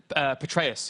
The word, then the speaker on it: Petraeus: Petraeus.